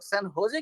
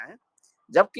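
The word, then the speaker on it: San Jose: तो हमारे दिमाग में समझ में नहीं आता था कि ये लोग सैन होजे क्यों बोल रहे हैं, जबकि इसका स्पेलिंग जो है SAN सैन और JOSE है।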